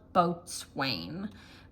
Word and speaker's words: boatswain: So, and then we've got Boatswain Santa, yeah, which is spelled boatswain, but it's Boatswain Santa.